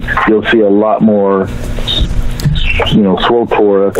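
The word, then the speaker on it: SWTOR: SWOTOR, that's how we pronounce it.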